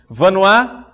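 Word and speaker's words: Vanhoye: Vanois, quem não sabe como é que escreve Vanois e quer anotar, né? Vanois se escreve V-A-N-H-O-Y-E.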